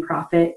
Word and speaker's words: Proffit: And I was actually born with the last name Proffit. It's spelled like making money, but with two F's.